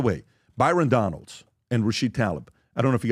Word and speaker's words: Tlaib: It's Rashid Tlaib, but it's spelled with some go ahead, Rob.